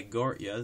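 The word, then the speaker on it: Gotye: want to there's um there's that song by gorya there's um uh Eyes Wide Open by Court yeah that's it's spelled g-o-t-y-eats he's the artist of the that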